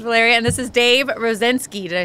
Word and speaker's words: Rosinsky: This is Valeria, and this is Dave Rosinsky.